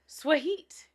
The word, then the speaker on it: Swahit: Swahit. What is That's the play on words. Swahit? Because it's sweet, but it's heat.